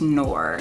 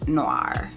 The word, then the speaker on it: Noor: So I think it's pronounced Noor and not Noir.